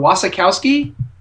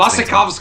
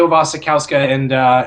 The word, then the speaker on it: Mia Wasikowska: Wasikowski. I think it's Wasikowska, but it's also Polish, and I think we're just pronouncing it wrong because we pronounce Wasikowska. It's probably like Wasikowska or something.